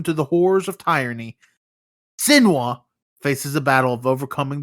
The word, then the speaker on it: Senua: Yeah, Senua.